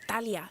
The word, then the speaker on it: Talia: It's actually like Talia.